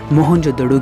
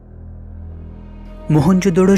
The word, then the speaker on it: मोहनजोदड़ो: आओ दोस्तों आज हम मोहनजोदड़ो की गलियों में घूमते हुए हमारी प्राचीन सभ्यता के गौरवपूर्ण अतीत को महसूस करने की कोशिश करते हैं मोहनजो डरो शब्द का सही उच्चारण है मोहनजोदड़ो और सिंधी भाषा में